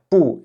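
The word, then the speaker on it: 不: Donc ici, petite particularité dans cette expression, le caractère pou est prononcé avec le ton neutre. On va pas dire to bout.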